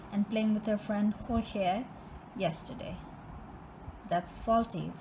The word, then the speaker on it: Jorge: So this is like a Latin Hispanic name, so they say the J is silent. Okay, so that's why I keep saying it sounds like I'm going crazy, but it's actually it's not George, it's Jorge.